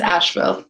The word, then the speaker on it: Asheville: It's Asheville.